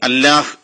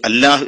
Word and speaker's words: الله: അങ്ങനെയാണ് അൽ ഇലാഹ് എന്നതിലെ ഈ പോയപ്പോ അൽ ലാഹ് എന്ന് ആവുകയും അത് പിന്നീട് അല്ലാഹ് എന്നാവുകയും അപ്പൊ അതിന്റെ യഥാർത്ഥ ഉച്ചാരണ രീതി അല്ലാഹ് എന്നോ അല്ലെങ്കിൽ അല്ലാഹു എന്നോ ആയി മാറുകയും ചെയ്തു.